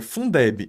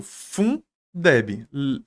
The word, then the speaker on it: Fundeb: Agora, veja, Fundeb, eu falo Fundeb, lendo as sílabas. Eu não falo F-U-N-D-E-B, tá? Se eu lesse F-U-N-E-D-B, eu teria que deixar ela em maiúscula.